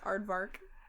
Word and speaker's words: aardvark: It's aardvark.